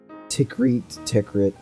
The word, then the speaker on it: Tikrit: Tikrit. Just it's pronounced Tikrit.